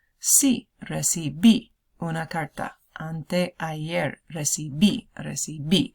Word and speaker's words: recibí: No recibí una carta anteayer. O sí recibí una carta anteayer. Recibí. Accent on the last I of that. Recibí.